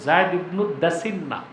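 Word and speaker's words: زيد بن الدثنة: জায়েদ ইবনুদা দাসনা হাদিসে আসছে বিফাতহিদা দাল। জায়েদ ইবনুদা দাসিনা। বুঝলেন? পুরা উচ্চারণটা হচ্ছে জায়েদ ইবনু দাসিন্না।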